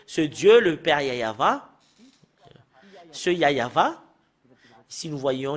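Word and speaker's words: יהוה: à l'heure précise bien que le fait de prononcer ce Dieu le Père yayava ce yayava si nous voyons l'image le fait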